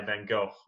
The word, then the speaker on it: Van Gogh: It's the weird phlegm. There's a weird phlegm on the end.